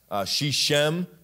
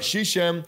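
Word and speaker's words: Shechem: there uh but um shishem as an English guy uh but shisham or shikem however you'd like to pronounce it that that doesn't matter really he dwelt in the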